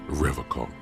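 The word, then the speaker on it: Revachol: stay strong it pronounces rivercon with a hard K unlike other people I like to pronounce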